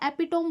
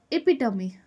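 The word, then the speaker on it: epitome: एपिटोम बोलती थी मैं इसको, एपिटोम नहीं, प्रोनाउंसिएशन याद रखना. This is इपिटमी.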